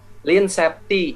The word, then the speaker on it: Lean Safety: ngobrol-ngobrol terkait dengan Hai LINE Septi nah cara bacanya Line Septi jadi Line itu dalam bahasa Inggris artinya kurus bus ramping Nah jadi Line Seti tapi dalam bahasa lugas